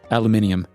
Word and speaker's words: aluminium: Because you know how the Australians pronounce aluminum, right? No. Aluminium.